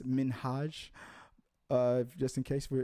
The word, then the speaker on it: Minhaj: People don't People always mispronounce his name. It's Minhaj.